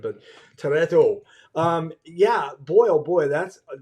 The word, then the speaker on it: Toretto: Toretto. Toretto. Yeah. I don't think I can do it with the accent, but Toretto.